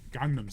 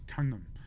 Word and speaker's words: Gangnam: We weren't even saying it right. We were saying Gangnam Style. Yeah. And it's Gangnam.